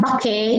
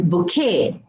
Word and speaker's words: bouquet: It is not bouquet. It's not bouquet. It's not bouquet. It's not bouquet. It's bouquet.